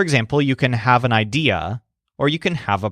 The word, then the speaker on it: idea: word idea which is spelled just like the English word idea but stresses day shows that he always